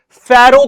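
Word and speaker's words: pharaoh: ठीक है, याद रखना, प्रोनाउंसिएशन सही रखना, फैरो कहा जाता था।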